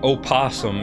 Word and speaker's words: opossum: Like, why opossum if we're not gonna say the O? Why not just spell it possum?